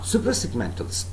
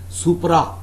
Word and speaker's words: suprasegmental: Alright, now suprasegmentals. Suprasegmental, please do not pronounce this word as supra. It is not supra, it's suprasegmental. Suprasegmental.